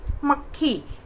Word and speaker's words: मक्खी: जैसे आप सुनिए मक्खी, तो क पूरा उसका उच्चारण नहीं होता, लेकिन उसका उच्चारण आधा ही होता है, क्योंकि वो आधा लिखा जाता है।